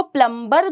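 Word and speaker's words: plumber: इसको प्लम्बर भी बोल देते हैं, लेकिन इसको रियल में कैसे बोलते हैं? प्लम्बर, बी साइलेंट होता है।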